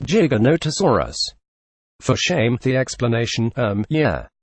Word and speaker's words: Giganotosaurus: paleontology convention and worse he pronounces it jy garnet asuras when it is in fact pronounced Giganotosaurus for shame the explanation